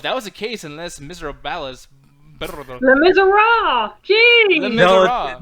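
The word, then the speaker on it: Les Misérables: Yeah, man, I'm looking in the chat to Mauricio saying, Nick, that's why I had Las Miserables. Les Miserables. Holy shit. Somebody clip that because that is the worst pronunciation I've ever heard of anything.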